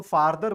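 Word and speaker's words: farther: तो इसको फारदर बोलेंगे और इसका सुपरलेटिव को फदेस्ट बोलेंगे।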